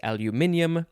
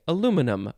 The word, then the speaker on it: aluminium: the british guy says the way that they say it which is aluminium because i think they add an i near the end and then he says